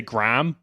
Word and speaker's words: graham: the H yeah yeah so you just ignore the cage and do like a big long a there's tons of words